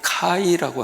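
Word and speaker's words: καί: 잘 못 받은 글이죠 이게 헬라인 발음이 카이라고 하는 발음이에요 카이 한번 해보시죠 카이카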